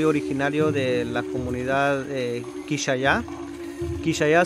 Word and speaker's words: Quixaya: Quixaya significa en el idioma cachiquel maya, Quixia, que se pronuncia Quix, corazón, ya, que es agua.